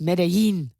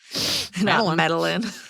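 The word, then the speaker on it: Medellín: won't try to translate I think it's pronounced medin yeah there's an accent there's two L's yeah medalin I won't try to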